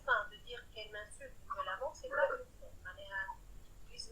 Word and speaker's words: violemment: Hey, moi je suis violentement. Elle m'insulte. Violemment. C'est violent, ça se prononce violemment.